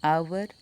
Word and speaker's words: hour: For example, an hour, an honest man. We don't pronounce H in these both words.